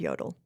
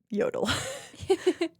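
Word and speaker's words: Jodl: signed by General Alfred Yodel. Yodel. It's like kind of a quintessential German name. I didn't know that that was anybody's last name. It's not spelled like Yoo. It's spelled J O D L.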